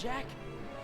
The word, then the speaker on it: Jacques: Take the girls, Jack. I'll hold them off. Run. Time to play, cat. Take the pearl, Jack. I know it's Jacques, but... No, it's Jack.